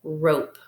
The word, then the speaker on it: rope: silent e syllable type remember this e we do not hear it but it helps this Val to make its long vowel sound so this would be rope rope very good all right